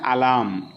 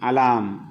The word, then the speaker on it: alarm: we have to say alarm so r should not be pronounced here r is a silent letter in the word a l a r m alarm okay so without r